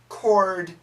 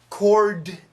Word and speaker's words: chord: 11 cord changes ah now this was a tough word chord changes so if you know about music chord is an easy word but if you don't know about music this is confusing because the D sound is really weak chord changes no chord